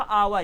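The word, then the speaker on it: hour: अभी आपने देखा आवर, एच ओ यू आर, तो यहाँ पर हम इसे कहते हैं आवर, मतलब यहाँ पर एच साइलेंट होता है।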